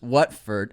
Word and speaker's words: Watford: Watford is pronounced Watford.